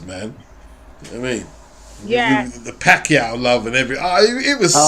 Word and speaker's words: Pacquiao: Yeah, the Pacquiao love and everything. It was sickly. Yeah. Did you know Jim Lampley mispronounced his name when he was first starting?